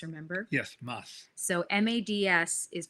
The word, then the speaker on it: Mads: And it's Mads, remember? Yes, Mads. So Mads is pronounced Mads Mikkelsen.